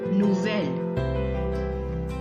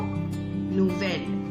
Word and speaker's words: nouvelle: And the pronunciation goes like nouveau, nouvelle. Beau, belle, nouveau, nouvelle.